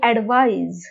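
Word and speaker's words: advise: साधी गोष्ट आहे. ऍडव्हाइस, स स हा उच्चार, ऍडव्हाइस स हा उच्चार, आणि सी हे स्पेलिंग असेल तर तो त्याचा होतो नाउन, आणि ऍडवाइज ज हा उच्चार असेल आणि एस असेल तर तो झाला व्हर्ब किंवा क्रियापद म्हणून तो काम करतो.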